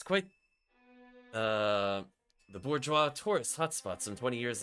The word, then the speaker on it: bourgeois: it's like bourgeois? Or, I forget how to pronounce the French word.